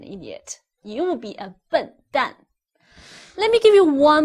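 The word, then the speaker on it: 笨蛋: you be an idiot you will be a butt done let me give you one more example if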